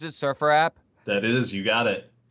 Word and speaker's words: SurfrApp: you're Jason Surfer app is that how you pronounce it Surfer app that is you got it so so did